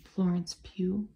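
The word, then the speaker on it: Florence Pugh: too all the time I think you say her name Florence Pew Maybe this is at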